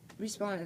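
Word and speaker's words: Huysmans: translate it by joyce respawn is how you would say it in french i don't know how to say it in dutch but it's a really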